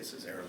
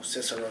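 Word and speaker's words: Cicero: most definitely ceso stadium is how you say Sayo Stadium cisero cisero cisero Stadium there we go cisero Stadium uh hell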